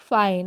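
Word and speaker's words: fine: एन ई है तो इसको फीने पढ़ना चाहिए है ना तो इसको हम फीने नहीं बोलते हैं इसको तो बचपन से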